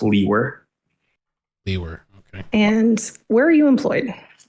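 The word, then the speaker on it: Liewer: the record and also spell your last name my name is and my last name is spelled l-i-e-w-e-r and it's pronounced Lee were and where are you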